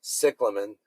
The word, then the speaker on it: cyclamen: If you have a cyclamen, or the true pronunciation is cyclamen, and it's done flowering and loses leaves, just let it stay dry.